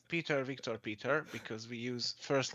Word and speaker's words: Viktor Peter: interesting uh talk my guest today is uh Victor Peter did I say it right yes welcome Victor